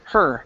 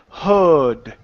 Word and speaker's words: heard: right you're pretty close make sure to pronounce that R you're saying hood okay so with your with your tongue your tongue is pointing downward that's why it sounds like that H okay to pronounce the r you need to curve your tongue uh upwards and and sort of back okay so instead of saying HUD okay it's her okay so there you go